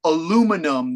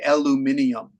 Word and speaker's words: aluminium: they do that yeah do you know for example aluminum that you make metal aluminum drinking can the British say aluminium and that's always yeah